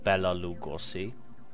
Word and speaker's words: Béla Lugosi: So, and then I talked about just an example, the name Béla Lugosi, pronounced like that, which is well, to